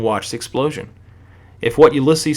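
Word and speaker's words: Ulysses: Some for some reason I wanted to call him Ulyses at first, but it's pronounced Ulyses.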